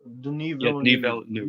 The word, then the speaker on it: Denis Villeneuve: Denis Villeneuve, I think that's how you pronounce the director's name. He's a great director. Denis Villeneuve. Denis Villeneuve.